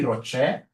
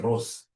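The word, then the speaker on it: ROCE: easy whenever I see Rocher please don't pronounce this as Ros is my sister Ross is your mother professionally we pronounce this as Rocher whenever I see this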